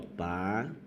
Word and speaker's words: país: Ó, país. Depois da vogal A, o normal é esse I perder força. Mas em país ele não perdeu, não.